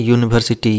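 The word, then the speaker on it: university: यूनिवर्सिटी। यू तो लिख रहे हैं, लेकिन वाई से प्रोनाउंसिएशन हो रहा है, इसलिए जैसे यहाँ पे जहाँ पे यूनिवर्सिटी रहेगा वहां पर भी जैसे ए यूज होगा।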